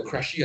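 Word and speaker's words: Krejcie: Um there is a table called the Crashy and Morgan table, right? Crashy is spelled K R E J C I E, right?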